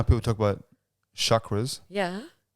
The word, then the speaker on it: chakra: You know how people talk about chakras? Yeah. I want you to say it correctly before you go. Chakra. Yeah, there you go. Chakra. Say it. I've said chakra. Chakra. Yeah. Chakra. With a rolled R.